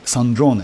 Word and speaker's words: Sandrone: I completely forgot about Sandrron because Sandrron Sandron by the way. Sandron to pronounce her name Sandron. Her name pronounced as like Sandron.